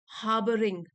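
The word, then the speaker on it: harbouring: हार्बरिंग, हार्बरिंग, are silent है, हार्बरिंग मतलब छिपा कर रखना या पोषित करना।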